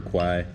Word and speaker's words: Kwai: The Death Museum, ride the train, see the river, the bridge over River Kwai, or Kwa, as I guess it's pronounced properly.